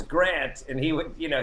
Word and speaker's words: Grant: said my name wrong he called me graham instead of grant and and i would correct him and say and say no it's grant and he would you